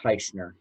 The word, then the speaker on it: Teichner: for me Jason sure it's pronounced tightener tyson er I didn't want to